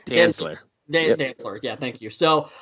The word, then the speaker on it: Dantzler: How do you pronounce his last name? Dantzler.